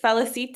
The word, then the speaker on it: Felicita: And then in the meantime, is it Felicita? Am I pronouncing it right? Yes, you are.